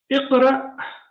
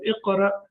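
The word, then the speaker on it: اقرأ: Iqra. Now here it is sakin. So when Hamza is sakin, we pronounce it with a small jerk. Like in the Quran, we have Iqra bismi rabbika alladhi khalaq.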